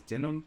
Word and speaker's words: DenHim: My name is DenHim. The H is silent.